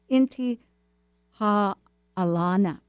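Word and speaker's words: Intihuatana: challenging how to say it I could probably spell it better but it's inti ha Alana and it means Hitching Post of of the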